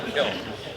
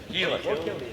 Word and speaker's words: Killen: I pronounced it wrong, sorry. I always said Killen. Keelan.